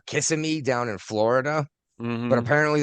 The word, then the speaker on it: Kissimmee: Just like you and I would call it Kissimmee down in Florida, but apparently the locals call it Kissimmee.